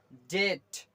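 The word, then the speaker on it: debt: Okay, यहाँ पर आपका बी, ये वाली यहाँ पर साइलेंट है, तो क्या हो जाएगा, डेट, डेट, डेट।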